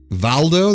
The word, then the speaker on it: Waldau: Valdo, that's how you say the last part?